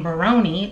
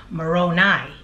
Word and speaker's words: Moroni: in my last video I kept saying Moroni like baloney when in fact it's pronounced Moroni so my apology I